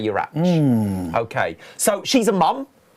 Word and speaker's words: Urach: That's how I grew up in Wales, so we would say the CH as a like the Scottish loch. Yeah. Urach. You would say Urach.